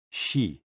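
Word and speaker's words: 嘻: And XI, pronounced like shi, which connects the whole body.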